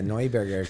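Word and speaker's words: Neuberger: my name correctly yeah noiberger according to iphone that's how i'm supposed to say well german no no no no new burger it's new burger in the united states but if you're in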